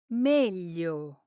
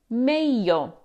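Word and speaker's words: meglio: Now, the correct pronunciation is meio. But if you spend time in Rome, you'll often hear mayo instead. Technically, it's not standard Italian, but in practice, it's perfectly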